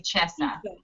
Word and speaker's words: Cesa: and talented Tina it's cisa or Chessa because in Italian it would be Chessa yes it's an Italian